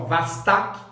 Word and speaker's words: Vostok: A Vostok em russo, que quer dizer Oriente. A gente pronuncia esse O em russo como A. Então, mais ou menos em russo é assim, ó, Vastak Adin, Vastak Adin, ou seja, Oriente 1,